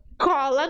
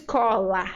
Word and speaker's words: cola: então abrió errado abrio abrio Cola não se diz Cola se diz cola cola